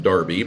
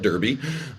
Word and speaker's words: Derby: So those folks over in the UK like to have Derby sound like Darby, but if you're looking it up, you spell it Derby.